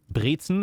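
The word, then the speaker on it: Brezel: something like that um of the briten writer Briton is how we say pretzel and rer is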